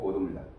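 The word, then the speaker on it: Godot: 이거 묵음입니다. Waiting for 고도입니다. 고도를 기다리는.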